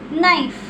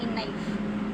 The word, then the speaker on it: knife: is a word here knife k n i f e knife here the word K is silent we say knife okay knife then l